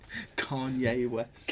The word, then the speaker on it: Kanye: Kanye West. Apparently that's how you're supposed to say it.